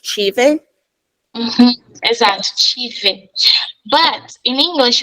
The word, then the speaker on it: tive: Tive. That's what I was trying to think of because I remember we were conjugating and I thought it was tive, but it's pronounced chive.